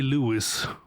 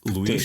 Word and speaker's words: Luis: first name is that if I say Louis, which is the correct pronunciation, right? Sort of. Sort of. Okay. It's like Luis. Yes, without the very like so. I'm gonna say it. So it's Luis. Do it. So it's just Luis. Yes.